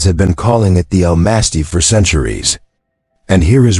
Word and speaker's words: Almasty: The name Almasty, pronounced Almasty, appears in at least 8 different languages: Mongolian, Turkish, Kazakh, Persian, Russian, Armenian, Georgian.